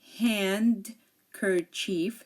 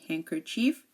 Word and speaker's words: handkerchief: silent D like handkerchief we don't say hand cief no we say handkerchief we have handsome we don't